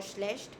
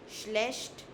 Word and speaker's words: schlecht: All right, there are two pronunciations for schlecht. You can say schlecht, sh, like shop, sh, or you can say schlecht. All right, both the pronunciations are okay.